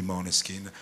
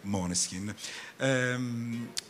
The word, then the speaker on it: Moleskine: questione sicuramente sono stati Moleskine e io lo pronuncio quella dizione Danese o la compagna Danese quindi mi piace dirlo proprio così è un po' Come